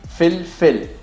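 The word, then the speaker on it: فلفل: Fil, fil, Fil, fil. fil, fil. Fil, fil. Good. So in Arabic, you want the L to be very light. L, like the L.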